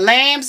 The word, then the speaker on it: lamb: the two okay got lambs and sheeps they look like the same to me i thought they was but they said it's a silent b they said the b is said lamb but i saw i